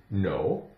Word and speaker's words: know: So keep in mind, the K is silent in words that begin with KN.